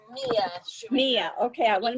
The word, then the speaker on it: Mia: Okay, so next I see Mia, or is it Shoemaker? It's Mia Shoemaker.